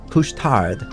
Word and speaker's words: Couche-Tard: I believe it's pronounced couche tard. Couche tard.